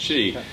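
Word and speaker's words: qi: about cheese it's it's it's bell q ibis pronounced chi and that's kind of not just the meridians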